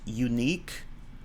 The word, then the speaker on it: unique: But the weird thing is that with words such as unique, um, it's they start with the Y sound, and Y is sometimes a consonant and sometimes a vowel.